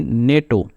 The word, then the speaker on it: NATO: तो जैसे एग्जांपल्स को देख लेते हैं, नेटो। तो ये जो वर्ड है इसको हम जो है वो प्रोनाउंस एक ही झटके में कर रहे हैं, नेटो। तो हम इसको NATO जैसे प्रोनाउंस नहीं कर रहे हैं।